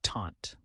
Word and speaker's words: tante: Aunt in French is tante said as taunt ants often Provide support